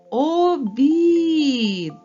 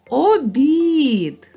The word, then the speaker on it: обід: і д давайте покличемо обід наголос падає на голосний звук і він є наголошеним обід А якщо наголос упаде на звук о обід то мить обід перетвориться на обід від колеса обід обід книга